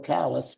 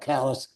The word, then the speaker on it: Calais: And we got to go to Calais, which is not Calais, or Calais, we got to Calais. So we're going to end it up by going to these towns and we're mispronouncing it.